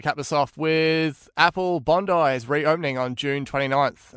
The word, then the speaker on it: Bondi: I want you, Nick, to just let the international listeners know, how should Apple Bondi be pronounced? Bondi. I'm just kidding. As you said, Apple Bondi.